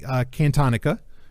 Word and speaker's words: Cantonica: And these are 4 stories, I think it was 4, that have to do with the planet Cantonica. That's how you pronounce it.